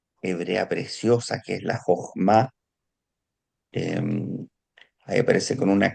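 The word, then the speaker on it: חָכְמָה: Como ustedes yo creo que han escuchado los de Medio Oriente, como hablan a veces como con una J intrínseca acá. Jochma.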